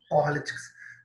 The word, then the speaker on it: politics: Então, a tônica, a sílaba tônica, é bem diferente. Ó, no caso política, nós falamos politics, politics. A tônica, que é a mais forte, está no pó, politics.